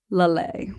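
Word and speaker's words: Laleh: But it's like it's like Lale. Lale. So it's the accent is on the second syllable, which seems like a lot of, I mean, I'm talking out of my ass here.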